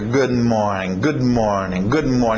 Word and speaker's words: good morning: O que você vai ter que fazer no inglês é engolir esse D. Ou simplesmente, para não entrar nessa de, ok, todas as vezes que eu tiver consoantes eu vou engolir, não sei o quê. Não, faz o que é natural. Treina isso. Relaxa. Good morning. Você vai ver esse D ficar meio engolido, mais suave, ok?